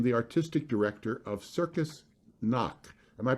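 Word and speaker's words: Knie: that he became the artistic director of circus noc am i pronouncing that right eugene that's right yeah yeah circus knock in switzerland and a position that he held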